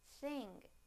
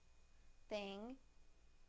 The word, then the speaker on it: thing: Now the ng sound in the word thing, thing, thing.